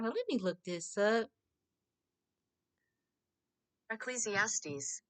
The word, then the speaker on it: Ecclesiastes: about to look I ain't perfect I couldn't pronounce this right let me look this up eclesiastes Ecclesiastes so the writer of Ecclesiastes said there is